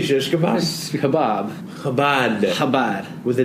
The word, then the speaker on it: Chabad: Chabad. With a D at the end. Habad. Yeah, they say no, and then they talk about Habab.